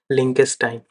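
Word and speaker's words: Liechtenstein: France, I से बना Italy, L से बना लिंकेस्टाइन, ये आप देख सकते हैं इसका प्रोनाउंसिएशन है लिंकेस्टाइन।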